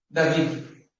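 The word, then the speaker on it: דוד: Como se fala Davi em hebraico? Assim. David. David. Tá? Então, David, você vai falar dessa forma.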